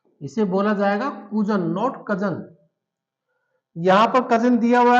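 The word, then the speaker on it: Cousin: ये कजन है लेकिन इसको बोला जाएगा कूजन। इसे बोला जाएगा कूजन, नॉट कजन।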